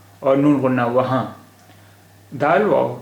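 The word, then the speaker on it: وہاں: फिर इसका उच्चारण होता वहान, वहान होता फिर उच्चारण। अब ये चूंकि नून गुन्ना है, इसलिए वहाँ, वहाँ।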